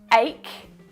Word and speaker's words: ache: ch like in chocolate but in the word ache it's pronounced like a k again this is why